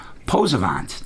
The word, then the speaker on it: Posavant: couple weeks ago when I played their song Posabands. Did I say that right, guys? Yep, that's right. Posabands.